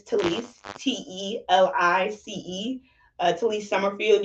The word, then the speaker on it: Telice: it says t-u-u-h-l-e-a-c-e-e uh it's my name but it's just spelled a little funky and spelled how it's pronounced um but my name is talise t-e-l-i-c-e uh to Lee